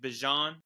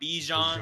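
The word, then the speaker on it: Bijan: I have Bjon Robinson that I guess is how you say it correctly. Bjon, not Bejon.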